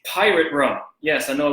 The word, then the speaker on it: Pyrat: It's Pyrat rum. Yes, I know it looks like it's spelled awkwardly, P-Y-R-A-T, Pyrat rum.